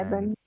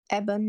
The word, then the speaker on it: Ebon: Yeah, Eben. Eben, yeah.